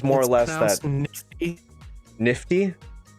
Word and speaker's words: NFT: Nifty, like GIF. It's pronounced nifty.